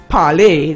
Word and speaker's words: parler: But remember the French, it's parler. The spirits talk, the spirits speak. Yes. That's the translation. But I'm just talking about the pronunciation. Parler.